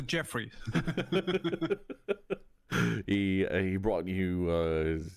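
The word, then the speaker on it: Djeffry: books and such that Jeffrey with a DJ e FF r y brought you it's pronounced the Jeffrey he he brought you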